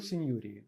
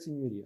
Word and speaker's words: Signoria: Ну, я вообще всю жизнь свою, кстати, говорил Синьории. Но я потом услышал это от итальянцев, они говорят Синьория. Ну, итальянцы, наверное, знают, как правильно говорить.